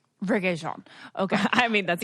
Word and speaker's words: Rege-Jean: Rege-Jean. Rege-Jean.